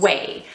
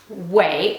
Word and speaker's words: OUAI: from Jen Atkin called wey uh wey is spelled o u a I but yes I checked and double checked it is pronounced way as in w a y uh Jen Atkin if